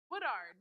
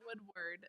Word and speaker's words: Woodard: Woodard, not Woodward. That's what everyone says.